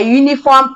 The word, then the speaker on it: uniform: uniform packing code a uniform packing code though it begins with u but the sound is a consonant sound so we use a not uh n because it's a y sound a uniform packing code